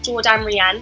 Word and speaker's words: Jourdan Riane: my apps are at Jordan Ran So it's j o u r d a n r i a n e yes it Rhymes my mom thought she